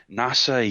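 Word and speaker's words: 星空: it's all about this uh young man named NASA yuzaki he's uh been he's grown up for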